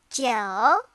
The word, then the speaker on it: 九: 九. It sounds like the name Joe.